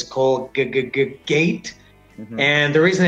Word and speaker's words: Colgate: In Mexico, they said Colgate. Okay, now explain to us how to pronounce it correctly in English. Colgate. Colgate. Again, two syllables because of two vowel sounds.